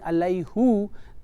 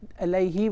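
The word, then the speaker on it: عليهِ: Rather than saying alayhu, alayhi was more easy on their tongue.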